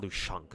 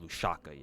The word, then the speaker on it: Lushaka: I think it's not Lushanka. I think it's called just pronounced Lushaka. Yeah, no, there's no N in there.